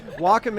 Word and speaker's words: Wacom: get asked every time it's technically walking lock but but we get there is a third option oh yeah Walkom is uh probably the least known and the actual accurate pronunciation we get Wacom we get Wacom we